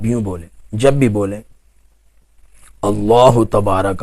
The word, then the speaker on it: اللہ: کریں۔ مثلا آپ یوں بولیں، جب بھی بولیں اللہ تبارک و تعالی، اللہ تبارک و تعالی، جب